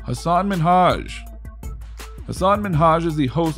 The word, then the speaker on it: Minhaj: She said his name like Minaj instead of Minhaj.